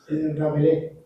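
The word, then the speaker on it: Rabelais: Renacimiento, el contexto de Rabelis, ¿no? Así se, así se pronuncia Michel. Francois Ravelis. Rabelé. François Rabelé.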